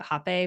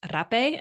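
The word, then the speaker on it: rapé: rape for the first time Americans call it happy but technically pronounced rape and I pretty much blew the lid off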